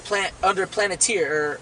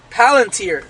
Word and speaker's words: Palantir: Yeah, Palantir, I said Planeteer, Salakia.